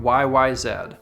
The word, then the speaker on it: YYZ: is the rush song YYZ yes that is how we pronounce the last letter of the alphabet up here and also how Geddy Lee has introduced the song live how about that anyways